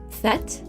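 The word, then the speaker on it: Tết: able to do this fet fet is is how I heard that pronounced um there's that's technically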